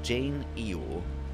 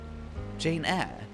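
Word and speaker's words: Jane Eyre: Janea Eeyore Eeyore I Jane Jane Eore Jane Jane Iie Oh Jane Iie Wait you pronounce the air like air up Jane air Jane air Charlotte Bronte okay I'm not You're gaslighting me.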